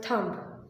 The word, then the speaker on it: thumb: first word thumb okay we will be pronouncing it as thumb with the m but we'll be writing